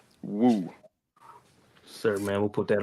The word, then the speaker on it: Weauxx: Yeah, my TikTok is Woo, WEAUXX. That's how you pronounce it. Woo.